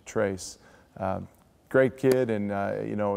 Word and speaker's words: Tres: some people call it Trez tray but it is the spanish pronunciation trace great kid and you